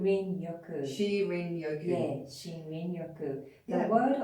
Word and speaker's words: Shinrin-yoku: Shinrin-yoku? Shinrin-yoku.